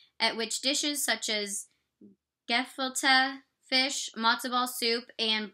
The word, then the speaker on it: gefilte: So the fish, the Gefilite fish, is ground fish such as pike, carp, or whitefish formed into a rounded patty wrapped with fish skin and simmered. Oh, okay, it gives a pronunciation. Gefilte.